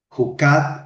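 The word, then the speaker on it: jukat: Cuando tú miras derecho y miras es juca. Juca. ¿Cómo se escribe para nosotros? J U k a t y la otra palabra es ol.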